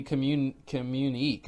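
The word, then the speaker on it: communiqué: Can you tell me how to spell it? Communique? It's like COMMUN. What? COMMUNIQUE.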